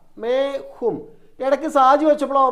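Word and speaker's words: मैं: പറയണം സൗണ്ടിൽ ചെത്തി കളഞ്ഞാൽ മതി നമ്മുടെ സ്വരം എടുക്കുമ്പോൾ ഉണ്ടല്ലോ മേം എന്നുള്ളതിന്റെ എം ചെത്തികളയണം ഈഇത് ഉച്ചാരണത്തിൽ വേണ്ട ഏത് ഈ ഇവിടെ ഒരു കുത്തുണ്ടല്ലോ അതിന്റെ ഉച്ചാരണം വേണ്ട മേം എന്ന് പറയണ്ട മേ എന്ന് പറഞ്ഞാൽ മതി ഏക്ക് എന്നുള്ളതിന്െ ഏക്ക് ഫുൾ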